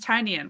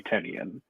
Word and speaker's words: Tynion: Uh, so we're starting off with The Woods by James Tinyian, which we have we were finally saying correctly. Uh, even though you and I are dieh hard Tinyian fans and we have been saying it wrong for years. Sorry. I will at some point tonight at least once, maybe 10 times say Tenian without thinking about it.